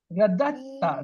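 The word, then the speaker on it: رددتَ: Radatta, radatta. Look, the second dal is not pronounced.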